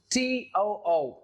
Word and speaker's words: too: The very next is too, to. It's a little bit longer in sound. The oo sound is there. So in pronunciation is quite different from to. It's to, a little bit longer. There's oo sound in it.